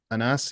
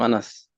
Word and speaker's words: Anas: Anas, you got your hand up. Hopefully I pronounced that right. Yes. Uh, that's my name. Anas.